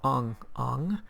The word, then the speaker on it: Bong Bong: Next we have Bong Bong, pronounced Ong Ong, and he made bread.